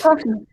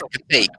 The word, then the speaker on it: café: Coffee. No, no es coffee, es café. Ah, café. ¿Cómo se dice? Café. Ah, Café. Café es una palabra de origen francés. Por eso se dice distinto, café.